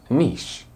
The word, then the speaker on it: niche: what it sounds like it's niche niche it sounds like quiche which is the French dish I was talking about before quiche is a